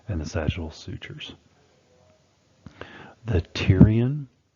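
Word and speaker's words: pterion: the sagittal sutures the Tyrion that p is silent so it's the Tyrion suture is the junction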